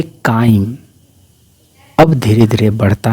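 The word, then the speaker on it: chyme: देखने में बहुत ही ज्यादा बेकार भद्दा और उसको हम लोग बोलते हैं काइम। स्पेलिंग आप देख रहे हैं।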